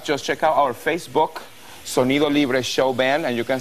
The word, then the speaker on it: Sonido Libre: I got to ask you about Solito Lindo. Sonido Libre. Did I say it right? Sonido Libre. We did an amazing, amazing event yesterday. That's your band, of course. My band, Sonido Libre.